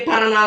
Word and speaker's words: Paraná: Por que Paraná leva acento? Porque é uma oxítona. A sílaba tônica mais forte é a última e termina em A.